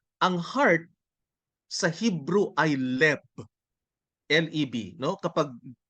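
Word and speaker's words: לב: So, ang heart sa Hebrew ay leb, L-E-B, no? Kapag pronounce natin in the Roman way.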